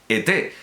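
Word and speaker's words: Ethé: autor dedicó al doctor E.T., en recuerdo, no el extraterrestre, sino E-T-H-E con acento agudo, al doctor E.T., en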